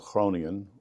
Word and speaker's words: Groningen: from the north of Holland, a town called Groningen, which is spelled with a g but they say it with a over there, like a g.